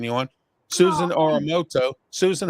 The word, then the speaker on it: Uramoto: Susan Oramoto. I think I pronounced it right. You did. You got All it. right, Susan Uramoto, thank you for being on the program today